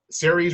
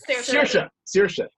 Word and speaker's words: Saoirse: The one with I always get her name wrong. Cerise Ronan. Is that right? Yeah. Saoirse. Yeah, there is Saoirse Ronan.